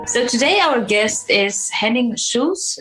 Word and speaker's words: Henning Schulze: So today our guest is Henning Schulze. Am I pronouncing that correct? Yes.